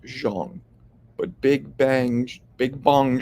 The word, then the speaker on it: Zhang: Post about him and Jang pronounced actually Jang little known fact his name should be pronounced Jeong but big bang big